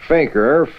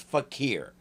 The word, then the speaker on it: fakir: are here this fiendish Faker fettered by your friendly neighborhood spider man yes I know that's how it's spelled but it's not an American word it's a Hindi one and it's pronounced fakir sorry I just had